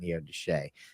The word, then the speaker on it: Neodesha: place is and that's exactly how they say it neodeshae but yeah Neodesha as